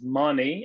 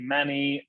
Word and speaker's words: Maani: I'm going to start by saying my name is Maani, and I want you to leave this in there because the entire world calls me Manny, Marnie. Ladies and gentlemen, it's Maani, but thank you.